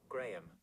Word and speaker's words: Grae: The person Graham, I think is how you pronounce it, because it's spelled Grae.